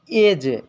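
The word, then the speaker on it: edge: पहले डी आता है जब जी से पहले डी आता है तो डी हमेशा साइलेंट रहता है जैसे एज एज एज माने होता है किनारा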